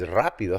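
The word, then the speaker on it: rápido: spanish right rapido norris rapido has an accent rapido because you put the emphasis in this syllable in this word rapido but to form the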